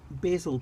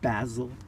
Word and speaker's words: basil: But here I have planted what is supposed to be a really good companion for tomatoes, little basil plants. Here, some people pronounce it basil, but for me they're basil.